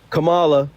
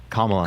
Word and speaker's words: Kamala: greated no no no there's a thing Kamala that's how you say her name I'm sorry I don't Kamala Kamala literally Kamala literally